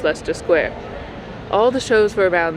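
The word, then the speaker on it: Leicester Square: big thing was going down to the squares Lester square and trafala square it's pronounced Lester Square even though it's spelled Li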